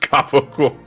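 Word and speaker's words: capicola: We're gonna talk about something that sounds nothing like the way it's spelled. Yeah. Why is it pronounced gabagool? It's an Italian thing.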